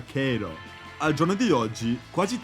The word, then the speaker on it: Cairo: Tuttavia, la gente del posto non tarderebbe a ricordarti che il suo paese si pronuncia Kay-ro.